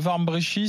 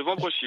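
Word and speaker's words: Wambrechies: appelez de Warmbrechy, c'est ça? De Vambrechy, oui, dans le Nord. Vambrechy, pardon d'avoir mal prononcé.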